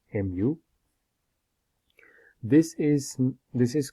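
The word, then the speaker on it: μ: longer one side so it's a greek letter pronounced as mu mu this is this is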